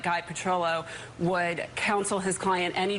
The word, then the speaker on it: Petrillo: I will defer to my new counsel, Guy Petrillo.